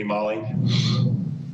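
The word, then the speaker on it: Maale: of those people are there we have mall m-a-a-l-e i don't know if i'm pronouncing that correctly good afternoon please state your name for the record good afternoon my name is molly i am a lifelong resident of palm beach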